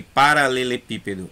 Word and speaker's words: paralelepípedo: Mônaco e paralelepípedo é proparoxítona e espécie paroxítona.